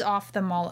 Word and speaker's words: ophthalmologist: a long time but it's off as in turning the switching the lights off okay so we always